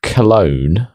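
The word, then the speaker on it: Calone: So, I've clicked on the note of cologne. Um, and it's spelled C A L O N E by the way, not as in like cologne. So, if you do that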